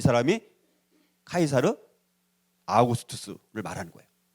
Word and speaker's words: 카이사르 아우구스투스: 그래서 그때 가이사 아구스토 이 사람이 카이사르 아우구스투스를 말하는 거예요. 근데 이제 이 우리나라 번역에는 가이사 아구스토 이렇게 좀 원어대로 발음은 잘 안 됐지만 아무튼 자 그렇게 이제